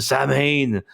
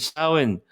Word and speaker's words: Samhain: If before you missed this, the Samhain, or how do you pronounce it? It's like Samhain. That's how you pronounce it. The Irish accent, Samhain.